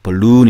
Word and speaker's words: balloon: 이렇게 연속으로 있으면 당연히 이제 길게 바로 1 발음 하라 는 뜻이고 강세도 있다는 얘기에요 벌룬 입니다 볼룸 풍선이 제품 섬 그 다음에 뺑